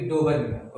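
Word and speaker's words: Döbereiner: तो answer would be डोबर्नियर। Okay, please read this spelling also and learn it.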